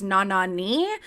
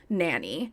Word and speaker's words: Nanny: ashanti tribes and her the proper pronunciation of her name while living in africa was na nani which translates to mother and then her late her name eventually evolved into the pronunciation of nanny while she was living